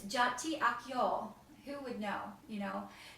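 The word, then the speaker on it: Çağatay Akyol: I could pronounce it, to learn how to pronounce it. And it's Jati Akyol.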